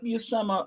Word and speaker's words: Buscema: And then Buscema, I now am confident in saying Buscema because I watched his daughter on Instagram live the other day, and she says, "Hi, I'm Steph Buscema." Okay, that must be how it's pronounced.